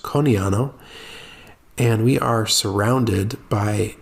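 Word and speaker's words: Conegliano: it's spelled c-o-n-e-g-l-i-a-n-o it's it looks like it's congliano but it's pronounced coniano and we are surrounded by the Prosecco Hills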